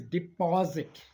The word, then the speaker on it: deposit: The next word is deposit. The P-O is pronounced as paw, paw, law, or the word, the way you put your mouth is, you can look at me, paw, law, depaw, deposit.